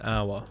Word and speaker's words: hour: It's pronounced O. An hour, yeah. It's hour. It's like French, pretty much. Yeah, it is a French word, hour, isn't it?